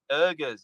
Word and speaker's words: Uyghurs: I'm sorry if I'm mispronouncing it. Yeah. No, you're not mispronouncing it. It's just a language difference.